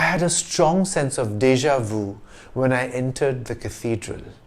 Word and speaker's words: déjà vu: sufficient to know that the french pronunciation of this phrase is deja vu many people report having